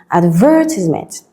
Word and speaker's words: advertisement: With ment, the stress shifts to the second syllable and it becomes advertisement.